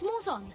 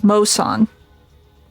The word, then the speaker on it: Moson: Miss Morzon, watch your six. Let us help you. Okay, it's Moson.